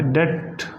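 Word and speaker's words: debt: He died in डेट, डेट कर्जे में मरा है, डेट इसका प्रोनाउंसिएशन है डेट।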